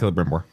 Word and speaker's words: Celebrimbor: Yes, that's Celebrimbor. How's that pronounced? Celebrimbor. Okay, I got it pretty close.